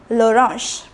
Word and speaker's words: orange: The spelling is the same. It is orange. The spelling, it is pronounced l'orange.